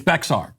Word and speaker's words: Bexar: All these comments, it's pronounced Bear County.